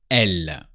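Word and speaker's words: elle: say she in French she is L so you can say it l so e l e L and now let's say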